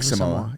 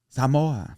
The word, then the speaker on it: Samoa: I think she samo. Yeah. Yeah. So, um you're probably saying it wrong, though. Samoa. Samoa.